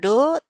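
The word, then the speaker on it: ∂: Jadi operator del itu del sama do. Nah, yang ini dibacanya do ya.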